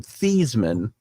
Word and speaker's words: Theismann: I believe Joe Theismann pronounced his name Thiesman, and they talked him into changing his name, the pronunciation of his name, so that it would rhyme with Heisman.